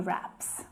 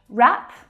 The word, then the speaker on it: wrap: need to be one wrap and wrap I pronounced in exactly the same way the W is silent because the sound is